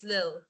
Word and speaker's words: little: the another could be the deletion of the L. For example, for the little, when we pronounce the little, it's not little, isn't it? In English, little. It's not. It's little Red Riding Hood. Kaya nga, diba, as you can see with this one, it's lil.